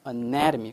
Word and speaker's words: anatomy: anatomy 강세가 여기 있고 이 to 부분에 강세가 붙어 있지 않습니다. 그래서 anatomy, 오케이.